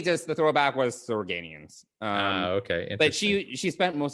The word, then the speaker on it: Organians: Organians is how you say it.